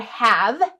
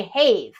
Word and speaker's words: have: um rules rules like like the word have have let's tap it out it's perfectly decodable except that it has that silent E on the end right and that silent e what the kids first learn about the silent E is that it makes the a say its name right and so then it should say hay but there is the